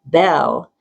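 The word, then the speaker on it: Beall: In our 20s, my friend whose name is pronounced Belle but is pronounced but is spelled B E A L L said we must say boldly we are poets four.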